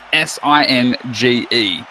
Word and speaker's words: Singe: Singe has proper spelling, and it is S-I-N-G-E. Having a J at the end, it should be pronounced Sinjay. But he wants it to be pronounced Singe, so that's what we do.